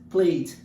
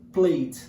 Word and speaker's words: played: E o padrão linguístico do inglês é played. Esquece que o E existe, pronuncia-se played.